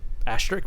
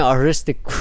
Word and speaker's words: Asterisk: Asterisk War. Why I keep on saying Aristic War? Asterisk. Asterisk. Asterisk War.